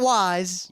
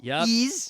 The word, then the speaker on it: Ys: pronunciation debate on so I know the critic pronunciation now it is actually a manga/anime RPG spelled capital Y lowercase ease not wise ease ease I said wise when I was a